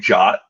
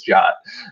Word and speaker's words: JWT: So JWT equals JOT.